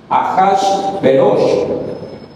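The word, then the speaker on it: אחשורוש: o sea asuero realmente su nombre es ahash ahash beros así se pronuncia su nombre aas ya y enseguida miramos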